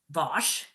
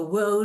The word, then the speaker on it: Wos: So I'm my last name is pronounced Vosch. Susan Bosch. A lot of people go wo or woos. It's Vosch.